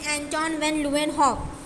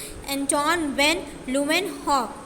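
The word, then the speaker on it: Antonie van Leeuwenhoek: अब जैसे आपके एक यहाँ पे माइक्रोबायोलॉजिस्ट थे, एंटोन वैन ल्यूवेनहॉक. क्या नाम है इनका, listen the pronunciation very carefully, एंटोन वैन ल्यूवेनहॉक. I will pronounce it again, एंटोन वैन ल्यूवेनहॉक.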